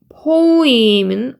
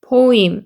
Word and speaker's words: poem: 그 다음에 여기 있는 poem은 오우 소리가 나고 오에 강세있기 때문에 이거 한 번에 같이 읽어야 돼요. poem 이렇게 소리가 나서 시는 poem이 되는 거죠.